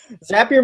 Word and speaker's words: Zapier: say the company name zappier makes you happier we've heard every Vari variation of it zapier zapier zapier you name it um but zapier is the one we like to call it